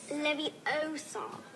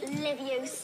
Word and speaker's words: Leviosa: You're saying it wrong. It's Leviosa, not Leviosa.